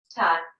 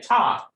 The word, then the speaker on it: Ptah: And let me make sure I am pronouncing Ptah correctly. That is Ptah. I'm assuming that is Ptah. Ta. Okay, Ta.